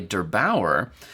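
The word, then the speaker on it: der8auer: This was discovered by Derbauer. That is how you pronounce that, right?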